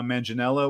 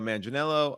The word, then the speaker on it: Manganiello: movie um your friend your friend Joe uh manginella was in the movie Joe Manganiello who I mispronounced his name the last time I